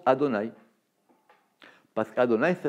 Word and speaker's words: Adonaï: ça que c'est pour ça qu on le prononce adonaï pas ce cadeau nice et là ma route